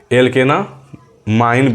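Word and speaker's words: alkanamine: एल्केनामाइन बोला जाता है इसको। क्या बोला जाता है? प्रोनाउंसिएशन क्या होता है इसका?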